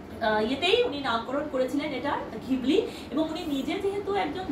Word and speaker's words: Ghibli: উনি নামকরণ করেছিলেন এটার ঘিবলি এবং উনি নিজে যেহেতু একজন জাপানিস ছিলেন উনি নিজে যখন উচ্চারণ করতেন নিজে কিন্তু জিব্র বা এরকম টাইপের করে উচ্চারণটা করতেন তো বলব বলার ইট